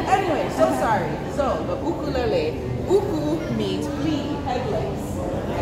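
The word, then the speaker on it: ʻukulele: We got a lot of vowels in our language, I know, but the way you pronounce it is like how you sound out the vowels. A, E, I, O.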